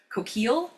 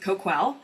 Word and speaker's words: Coquille: Um, you may be familiar with the town and the river of Cookil, but the tribe pronounces it Kquwell.